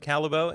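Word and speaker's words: Callebaut: astounding that's absolutely fantastic the chocolate is pronounced calibel and its top tier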